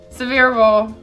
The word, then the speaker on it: Sevier: for County Mississippi or County but Sevier County severe County you're right oh these are the last